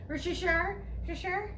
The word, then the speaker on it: Worcestershire: Worcestershire?